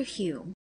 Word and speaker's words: Home: mr r barrett browning appeared he says mr hume who subsequently changed his name to home hum is pronounced human scotland was detected in a vulgar